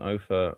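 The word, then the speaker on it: Opher: All right, how do you say his name? Simon is obvious. Ofer is O-P-H-E-R. Simon Ofer, lovely.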